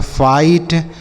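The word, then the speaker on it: fight: किसी भी शब्द में आई के बाद अगर जी एच टी किसी भी शब्द में लिखा होगा तो इस आई का जो उच्चारण होगा वह आई होगा।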